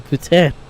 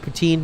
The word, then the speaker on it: poutine: Canadian and you say I would like some futen they'll bring you one and you're gonna have it you're gonna have to also pay for it forget that protein does anyone have a hat poutine by the way pretty good I feel lactose